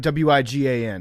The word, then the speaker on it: Wigan: Is it Am I pronouncing that right? W I g a n Yeah.